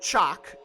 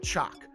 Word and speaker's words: Chaac: guide uh and uh i pronounce it chalk i think pretty sure that's how you say it most video games actually